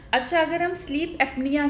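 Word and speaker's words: sleep apnea: अच्छा, अगर हम स्लीप एपनिया की बात करें तो ये क्या है? मैंने सही बोला? बिल्कुल, स्लीप एपनिया आपने एकदम करेक्ट प्रोनाउंस किया इसको।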